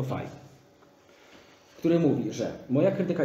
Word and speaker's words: Faye: Nie wiem, czy wspominałem, ale wymowa nazwiska Faye. Nie Faye, tylko Faye.